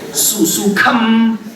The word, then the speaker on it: sukham: Susukham Kartum Avyayam. That kha you have to stress, okay?